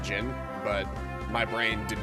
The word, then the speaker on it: Djinn: throughout this entire playthrough i will call them dejin a lot because as a child that's just what i call them i had no clue how to pronounce that word i understand that it's just gin but my brain did